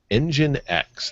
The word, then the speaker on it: nginx: going to ask you how do you pronounce this that though this web server you you said it the other day on the show and I couldn't quite remember how they pronounced their product nginx engine X there we go okay